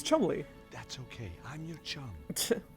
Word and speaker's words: Cholmondeley: Alright, well, Chum, I'm pretty sure is Chumley, which is the correct pronunciation of what George has been pronouncing as Cholmondeley.